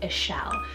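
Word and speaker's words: Ixchel: in Isla Mujeres and that is the name ashell so spell IX CH e el it is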